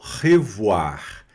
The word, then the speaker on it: revoir: R pronuncia aqui no final, né? Muito importante também. Já comecem a se acostumar com isso. O R sempre na garganta.